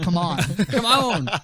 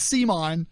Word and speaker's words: CMON: chasing I know and they want you to pronounce it come on not see mine it's come on come